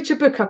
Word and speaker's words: Chewbacca: and a Chewbacca Chewbacca possibly Chewbacca because there's a single cease or usually that's and the the up is pronounced you when there's a single sea so I'm I'm assuming as